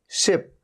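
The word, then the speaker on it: ship: तो अगर आपने सिप कह दिया, सिप, तो ये गलत हो जाएगा। इसलिए आपको ध्यान रखना है कि ये है शिप।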